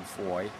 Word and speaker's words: Foye: My name's Foye, spelt with an E.